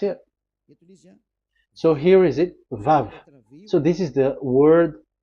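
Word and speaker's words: וו: We called it as Vav. Vav. Your mouth is like closed. Vav. So it's V as in Vogue. So it's really V. How to read Vogue? So the word, the shape Vav is really pronounced V, like Vogue.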